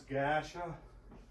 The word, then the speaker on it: Gerda: In particular, Mia, Gerda, which we pronounce Gasha.